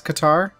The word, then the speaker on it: Qatar: I think it's actually pronounced Qatar, but I think Qatar sounds cooler, just personally.